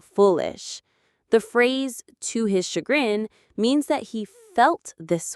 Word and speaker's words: chagrin: This word comes from French, so the sh sound is made with the ch. It has two syllables. Chagrin. Chagrin. The stress is on the second syllable, grin.